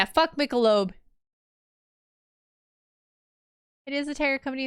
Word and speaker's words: Michelob: guess that kind of makes sense but yeah Michelob yeah like Michelob Ultra yes that's how you pronounce that I think I am going to